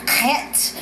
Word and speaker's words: Chet: Actually, the strength card in the Hebraic living language is the chet. It's the letter. It's spelled HHET. Chet, and you have to use the back of your throat for Hebrew.